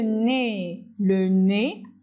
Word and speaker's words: nez: Et le nez, EZ se prononce E.